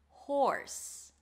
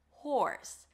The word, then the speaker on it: horse: Then we have this one, horse. Horse. So here we start with an H sound, then the OR as in four. Horse. Make sure you pronounce the H.